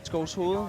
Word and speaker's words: Skovshoved: Was it the Danish Open in Skovsved? How do you say Skovsved? Skovshoved? Yeah. Yeah. Something. You say it better. Skovshoved.